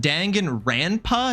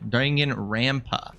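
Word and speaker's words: Danganronpa: Is it dangen rampa, not rampa? Ra. Yeah, everybody's been saying rn. Dangan rampa.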